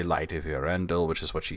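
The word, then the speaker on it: Eärendil: Uh it would be Arendel. Uh you do want to put the emphasis on the second to last um syllable of any Elvish word.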